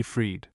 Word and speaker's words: free: Freed, free and freed were sometimes formerly pronounced like fry and fried for Lord North in his forest of varieties 1645 has these lines.